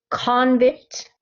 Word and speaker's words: convict: pronunciation there okay so when i say this stress on the second syllable then that that creates the verb okay that means this